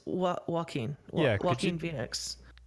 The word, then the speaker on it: Joaquin: And Turarts, it's Joaquin.